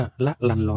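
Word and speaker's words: ละลันลอน: นะ ครับ นะ ครับ ชื่อ นี้ อ่าน ว่า ละ ลัน ลอน ชื่อ เต็ม ๆ นะ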